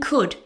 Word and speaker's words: could: This goes the same for would and could. They all have a silent L.